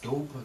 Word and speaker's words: Dopper: but I want to it's spelled as d o p p e r it's Doper to me I I want it to be pronounced like that you see so that